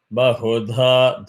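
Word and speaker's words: बहुधा: Bahudha Bhavanti. Here, where is Swarita? Bahudha, dha is hard.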